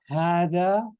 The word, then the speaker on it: هذا: If I'm saying hada, shouldn't the ha should have an alif after it? Right? It should, right? It should. It should. And it actually does. But only in speaking.